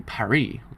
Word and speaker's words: Paris: the capital of France in English they say it's like Paris but the rest of the world say parie like the French did so how come